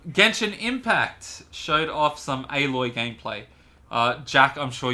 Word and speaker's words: Aloy: in horizon zero dawn it's not alloy i think it's pronounced aloy in the game it's always pronounced avalor it's aloy wow wow you just